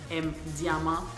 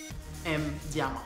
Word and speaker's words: M. Diamond: Mon pseudonyme, c'est M. Diamond. Puis je le prononce vraiment en anglais, pas en français. M. Diamond.